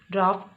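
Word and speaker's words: draught: नहीं है, पर ये यानी आप जी एच लिखते हो और आवाज़ आ रही होती है एफ यानी फ की, जैसे ड्राफ्ट, सही।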